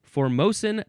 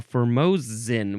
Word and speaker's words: Formosan: Yes, formosen termite. You can also say formosen or formosin with a z sound.